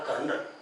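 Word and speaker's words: colonel: जैसे for example मैंने बताया था कर्नल, कर्नल में आर की आवाज आती है, र की आवाज आती है, पर इसमें आर कभी नहीं।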